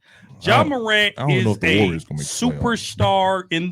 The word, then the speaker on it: Ja: Charles Barkley said Ja Morant. Is it Ja?